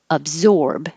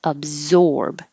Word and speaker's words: absorb: the t position maltreatment absorb and for the zorb remember to round your lips absorb i was totally absorbed